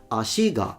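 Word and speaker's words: 足が: I'm going to say ashi, ashiga, pointing to the fact that the particle goes down because it's a odaka pattern.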